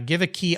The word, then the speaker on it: Geweke: And of course, the Give a Key Auto Group, which is spelled GEWEKE Auto Group.